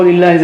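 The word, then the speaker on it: لِلَّهِ: Okay, this is how lillah is written. Just make sure you don't mispronounce it. So when you see kasra here, it is lillahi.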